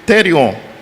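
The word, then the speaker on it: θηρίον: A palavra besta que se encontra no texto vem do grego therion. O caractere aí não apareceu, mas se pronuncia assim.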